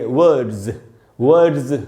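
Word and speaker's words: words: दूसरा जो सिचुएशन है दोस्तों वो ये है कि अगर कोई भी वर्ड डी से खत्म हो रहा हो, डी, उसके एंड में एस है, तो वहाँ भी एस को ज पढ़ेंगे। जैसे वर्ड का मतलब होता है शब्द, इसमें एस लगाए तो उसको पढ़ेंगे वर्ड्स, ज पढ़ना चाहिए।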